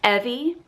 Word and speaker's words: Evy: Evie is my oldest, and her full name is Evie Kate, and we spell it E-V-Y. So I like to tell people it's like Chevy. It rhymes with Chevy.